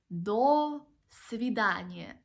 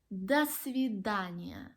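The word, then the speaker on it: до свидания: are two words and we do not pronounce them like dole sous-vide Anya it's like the svidaniya that's fib Dania so I think you've noticed that in some words when we have the letter O we actually pronounce it as the sound ah and there are so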